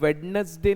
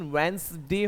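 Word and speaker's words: Wednesday: ट्यूसडे के बाद जो डे आता है उस पे लगभग सभी को पता है कि आप वेडनेसडे नहीं बोलते, उसका प्रोनाउंसिएशन वेंसडे होता है, तो आप बोलेंगे इट इज वेंसडे।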